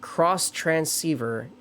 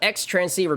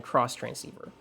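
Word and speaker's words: Xtransceiver: Going to point out before you get into Gen 5, it's pronounced cross transceiver. There's even a little line in the games. Yeah. Yeah. Yeah. I still call it X-Transceiver because I have because it's more fun saying X-transceiver than cross transceiver.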